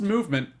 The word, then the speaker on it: MVMT: chal I love it uh mvmt uh watches pronounced movement if if you were wondering they took the vows out it's pronounced movement watches found out on the